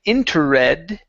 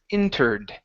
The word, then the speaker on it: entered: The only time you pronounce the E is if the word ends with a T or a D. Okay, so instead of saying interred, okay, the word is entered.